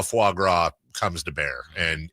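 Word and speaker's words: foie gras: Uh, I'm going to go eat some uh fo now. And uh, is that how you say it, J? It's f It's fuagra. But yeah, I say it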